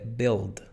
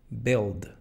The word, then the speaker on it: build: verbo es build fíjate No se pronuncia la u solo ild build build este verbo significa construir